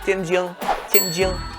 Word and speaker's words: Tianjin: The place in China where you would find the most authentic recipe would be Tianjin. Yeah, that's the right pronunciation.